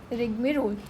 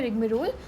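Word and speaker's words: rigmarole: तो इसकी प्रोनंसिएशन क्या होती है? बेसिकली रिगरोल। रिग्मोल। ठीक है? है। इसकी प्रोसिएशन होती है रिग्मोल।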